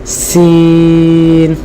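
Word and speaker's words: سين: হিম, আই সি, হ্যাঁ, এই যে সি বলতে গেলে যে সাউন্ডটা হচ্ছে এটা আসলে সিনের সাউন্ড, ওই রকম আর কি, যে সি আই সি, ওটা হলো সিন, ওইভাবে বলতে হবে সিন, আই সি হিম, সিন।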